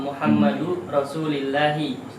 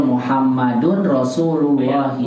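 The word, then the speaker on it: مُحَمَّدٌ رَسُولُ اللهِ: Ini terkait pelajaran selanjutnya kan ada nama Muhammadu Rasulillahi. Nah, Muhammadu Rasulillahi. Ya, Salah. Salah Ustaz, itu penyebutan itu Ustaz. Salah, antum bacanya salah. Oh. Yang betul Muhammadun Rasulullahi. Muhammadun Rasulillahi ya Ustaz. Bukan Rasulillahi, Rasulullahi.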